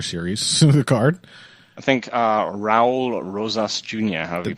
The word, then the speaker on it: Raul Rosas: I think Raul Rosas Jr. However you pronounce that. That sounds right. Yeah, Raul.